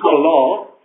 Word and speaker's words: Allah: Also muss man auch mal sagen, es heißt nicht Allah, sondern Allah. Das ist die korrekte Aussprache.